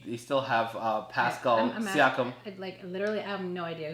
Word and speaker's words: Siakam: They still have Pascal Siakam.